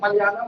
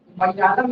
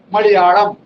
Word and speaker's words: मलयालम: हाँ, अब इसको उच्चारण जो है जैसे मलयालम में लिखते हैं ना, मलयालम नहीं होता, मलयालम, मलयालम ऐसे करके, हाँ, ठीक है। तो इसका प्रोनाउंसिएशन थोड़ा सा अलग है, ठीक है। जैसे टपुड़ा बोलते हैं, हाँ, ऐसे ही मलयालम, मलयालम नहीं होता, मलयालम ऐसा है, ठीक है।